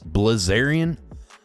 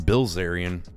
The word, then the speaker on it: Bilzerian: Bazerian. Is it Bilzerian or Oh, Dan Bilzerian.